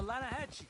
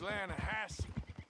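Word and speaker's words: Lannahechee: no no no no no no the the lana hatchy it runs right near here yeah but it's pronounced land hassle why is everything in english said differently than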